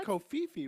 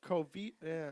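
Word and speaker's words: covfefe: to check it was Co Fifi wasn't it it's like Co feet I don't pronounce the V I always hear Co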